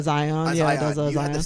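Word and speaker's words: A'zion: Zion.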